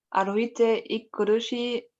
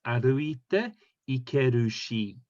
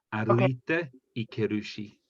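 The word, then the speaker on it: 歩いていけるし: Sorry, Annika, I'm just going to just up your pronunciation. That's 歩いていけるし. So you have to really hit every syllable.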